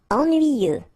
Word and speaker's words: ennuyeux: Ennuyeux. Okay, final X not pronounced, and then ennuyeux, ennuyeux. Facile.